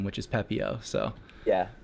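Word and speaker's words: Pepiot: At a minimum needed to understand how to pronounce his name, which is Pepio. So yeah, Pepio.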